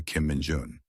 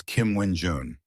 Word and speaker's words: Kim Min-jun: First, he had to tell him to change how he addressed him to Kim Min-jun. The guy was dense and mispronounced it as Kim Win-jun.